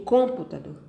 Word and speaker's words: computador: Eu vou pronunciar essa palavra. Eu digo computador? Não. Eu digo computador? Também não. Eu digo computador? Não. Então, se eu disser computador, eu sei que a última sílaba, dor, é a mais forte. Então, dor vai ser a sílaba tônica da palavra computador.